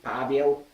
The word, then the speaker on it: Pavel: It will be Pavel. So it's Paul. And we pronounce this letter P like in word pet.